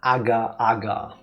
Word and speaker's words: agar-agar: It's made from agar-agar. At least that's the German pronunciation.